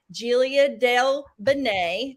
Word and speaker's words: Giulia Del Bene: And today I am here with my new friend, Giulia Del Bene. Did I pronounce that correctly?